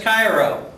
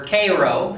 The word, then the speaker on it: Cairo: a tour of the USS Cairo or Koo as it's sometimes pronounced which is a gunboat